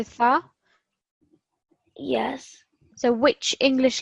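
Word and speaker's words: ث: So firstly, read it with a sin and then read it with a tha.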